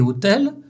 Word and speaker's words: hôtel: Le O avec l'accent circonflexe des mots hôpital et hôtel sera très fermé.